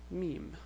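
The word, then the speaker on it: میم: a gap but this is the same so Meem now the way you pronounce of this temp just like the M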